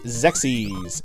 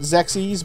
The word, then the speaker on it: Xexyz: so-called good game frog it's called zexis X XYZ is how it's spelled I don't know if that's the proper name for it zexis but that's what I always have called it since I've learned